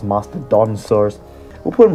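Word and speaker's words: Mastodonsaurus: the masteron masteron Saurus I always put another syllable After Dawn I always say Master Don tosur that's not quite right it's Master da saurus we'll put him right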